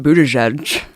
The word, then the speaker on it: Buttigieg: at going back to Pete Buddha judge you say his name but he has like